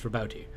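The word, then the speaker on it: Roboute: which i found out you actually pronounce the e it's rabouti um roboti gill of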